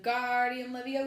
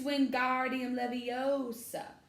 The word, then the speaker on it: Wingardium Leviosa: much more luck when Guardian Livio stuck he shouted waving his long arms like a windmill you're saying it wrong Harry heard Hermione snap its Wingardium Leviosa make the guard nice and long you do it then